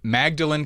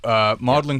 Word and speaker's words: Magdalen: So then you go on to Magdalen College. Am I saying that the right way? Magdalen College. Magdalen. Magdalen. It's spelt Magdalen, pronounced Magdalen.